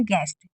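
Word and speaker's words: guest: बेस्ट चेस्ट रेस्ट गेस्ट अब गेस्ट में यू को नहीं पढ़ा गया कक अगर कहीं पर भी यू के बाद कोई भी वोलस होगा तो यू हमेशा साइलेंट रहता है तो यहां पर अगर यू के बाद ई है तो यू को आपको नहीं पढ़ना है आपको क्या पढ़ना है गेस्ट उसके बाद अगर कभी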